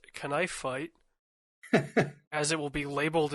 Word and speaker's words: K'nife Fight: As it's properly pronounced, knife fight as it will be labeled in my storage system.